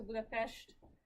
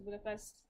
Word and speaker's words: Budapest: wants to go to Hungary you go to Budapest not to Budapest but it's just fun fact you want